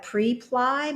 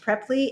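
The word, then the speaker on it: Preply: a platform called prepley or it looks like pre-ply but it's pronounced preppy and there's a link in the description and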